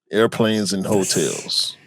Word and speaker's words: ARPLNSNHOTLS: And it's spelt with minimal vowels. There's only one vowel in the whole spelling of the brand. It's ARPLNSNHOTLS. Airplanes and Hotels.